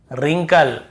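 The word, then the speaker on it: wrinkle: यानी होता है रैपर रिंकल रिस्ट कहीं पर व कॉम सीधी सी बात है हमें जब भी ऐसे कहीं मिलता है वर के साथ एक साथ हमें केवल ऐसे पढ़ना है रोंग राइट रैप रैपर रिंकल और रिस्ट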